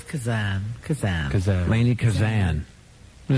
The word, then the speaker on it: Kazan: That could be They could call it Lanni Kazane or there's a Yeah, they've called me everything. You can call me Tada. Do we have it right? Laney Kazan. Laney Kazan. We got it. Not Kazan.